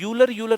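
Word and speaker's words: Euler: अब आयलर को कुछ लोग जो है ना, इसका प्रोनाउंसिएशन ऐसे भी करते हैं, यूलर करके भी करते हैं ना, कुछ लोग इसको यूलर भी बोलते हैं, ठीक है।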